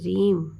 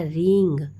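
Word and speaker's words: ह्रीं: तो मैं जिस तरीके से बता रही हूं कि रीम आर डबल ई एम या रिंग are double E एन जी दो प्रोनाउंसिएशन है।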